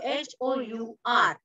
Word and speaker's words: hour: तुम्हाला माहिती आहे आपण अवर म्हणतो HOUR. त्याचं स्पेलिंग आहे HOUR, पण त्याला हवर नाही म्हणत, अवर म्हणतो. मग आपण कसं म्हणतो? अवर एचं pronunciation an hour. Very nice, because H is silent.